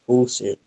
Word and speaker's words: Husserl: Husserl, como está escrito aqui, pronuncia-se Husserl.